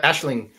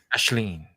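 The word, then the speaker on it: Aisling: Ashlyn? Yeah, Ashling. Yeah, there's like a G, like a ing. Ashleen.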